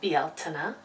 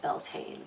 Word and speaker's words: Beltane: today I hosted a Women's Circle um for belain I know that it is pronounced Betina um but in the west primarily the United States it has sort of been co-opted and we now say belan predominantly um I hosted This Woman's Circle virtually